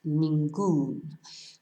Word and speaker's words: ningún: Whereas ningún ends in an N, so normally it would be stressed on the I, but to tell us to stress the end of the word, we have an accent, ningún.